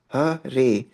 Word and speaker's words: Hare: He explained that Hare Krishna, pronounced Hare, is the name for Vishnu, a Hindu god, as the bringer of light.